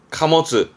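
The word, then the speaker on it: 貨物: 발음은 그러면 카모츠.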